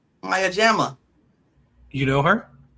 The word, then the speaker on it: Maya Jama: I don't know how to pronounce her name. Maya Mayajama. Maya Jama.